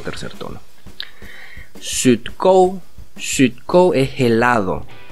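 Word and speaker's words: 雪糕: Sut, sut, esa es una U, poniendo la boca como decir U, pero en vez de decir U dices una I, es una U, sut. Y kou lleva tilde o acento en el O, o sea, es un tono alto.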